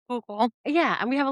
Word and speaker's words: Schuylkill: Well, even to most people, they don't know how to pronounce Schuylkill. Yeah, and we have a lot of those freaky names, like like you said, like Susquehanna and Schuylkill, and you have.